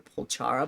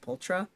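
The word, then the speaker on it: Pulchra: her name last time I called her pochara but it's just ptra I'm probably still mispronouncing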